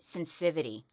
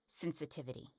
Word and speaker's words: sensitivity: And if you're going to have toothpaste commercials, make sure you can pronounce sensitivity. Okay? Gum and teeth sensitivity. Not sensivity. Sensivity I don't in a commercial! Maybe that is how you say it. That is not how you say it. It is not sensivity.